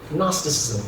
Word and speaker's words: gnosticism: was something called gnosticism gnosticism with the the whole like silent G going on there right for people who